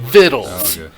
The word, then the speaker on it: victuals: morning fixed myself some vittles that that is that word that victuals spelling is vittles means I believe it